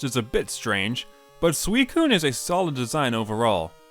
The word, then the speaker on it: Suicune: The head crest is a bit strange, but Suicune is a solid design overall. Also, as a kid, I would pronounce this Pokemon as Sushween.